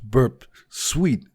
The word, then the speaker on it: Burp Suite: hacker 101 told me that burps ooh is pronounced burp suite and he is of course correct about that